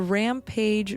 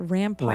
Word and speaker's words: Rampart: So the Rampage video or am I saying it wrong? It's a Rampart. Rampart. Rampart. Yes, I always said it wrong.